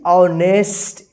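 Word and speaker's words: honest: very greedy and डिज ऑनेस्ट देखि य प ऑनेस्ट है ना यहां पर एच साइलेंट लेटर है यहां प एच का उच्चारण नहीं हुआ ठीक है यहां पर भी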